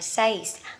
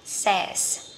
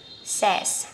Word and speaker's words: says: Thì từ này không đọc là says, từ này sẽ đọc là says, says các bạn nhé.